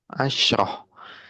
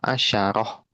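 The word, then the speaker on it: عشرة: Jadi bisa dua-duanya. Bisa asyro, bisa asyaro.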